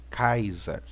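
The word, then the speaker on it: Καῖσαρ: olhar aqui nós temos o capa o alfa e ota Sigma ualfa e o hall né que vai dar a pronúncia de kaisa né ou seja o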